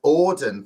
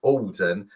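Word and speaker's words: Auden: thank you for that robert says i have to pronounce that as odin thank you sorry robert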